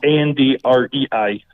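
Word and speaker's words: Andrei: or read it it's a-n-d-r-e-i so I'm just going to give you a hint when you try to say my name just just think of Andre the Giant Andre the Giant okay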